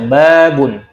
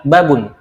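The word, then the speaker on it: بَابٌ: itu harus mengikuti kaidahnya ba panjang maka kita baca babun yang salah adalah kata babun itu yang salah makanya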